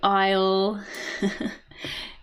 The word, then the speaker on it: aisle: So both of these words are pronounced as isle. The S is silent.